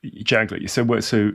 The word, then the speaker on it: Janklow: Is it Janklo or Yes. Yanklo? Janklo.